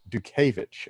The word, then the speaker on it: Dutkiewicz: I'm gonna ask you again how do you pronounce your last name - cabbage do kovitch ok yeah yep very have me out and